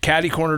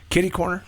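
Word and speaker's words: kitty-corner: all about and the guy to your left caddy corner to me or kitty corner how do you say that is it kitty corner caddy Corner Ben what's the proper way of saying is it kitty corner it's kitty corner kitty corner the guy who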